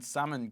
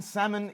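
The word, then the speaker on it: Salman: the uh World Cup Prince Muhammad bin summoned what's the pronunciation so it was Prince Mohammed bin salmon gifted the team rolls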